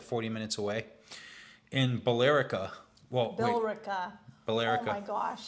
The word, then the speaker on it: Billerica: In Billerica.